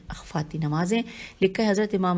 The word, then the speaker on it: اخفاتی: اور اخفاتی میں ہے الف پہ زبر ہے، خے فے الف تے چھوٹی ہے، اخفاتی نمازیں۔ لکھا ہے حضرت